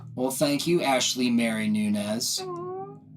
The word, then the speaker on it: Nunes: thank you Ashley Mary Nunez you say my last name right really yes all right well again for everyone out there it's Ashley Mary Nunez and he said it